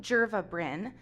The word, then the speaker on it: Jerva Bryn: Jerva Bryn, which, so it's Jerva and then Bryn, and some people call me Jerva and some people call me Bryn. I'm fine with either, but legally it is Jerva Bryn.